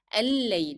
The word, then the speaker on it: الليل: So here, if you want to drop the pronunciation of lamb that is found in the definite article L, then you pronounce again 2 lambs because they are found under shadda. So it will be al-layl.